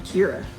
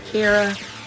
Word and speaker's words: Kirra: I'm Kirra. Not Kara, not Carol, not Kiera, not Christina. I'm Kirra Like Mirra. It rhymes, and ironically, it has become a bit of who I am.